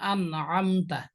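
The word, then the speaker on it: أنعمت: তাহলে আইনের উচ্চারণটা যদি আমি হামজার মতো করি, আন আম বলি, তাহলে সেটাও ভুল হবে।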